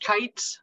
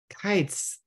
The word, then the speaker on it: Keitz: The last name's pronounced Keitz, like the things that fly in the sky. Keitz.